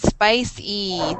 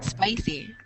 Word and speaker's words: spicy: Spicy, the long I, and at the end it's a long E sound. So it's spicy, spicy.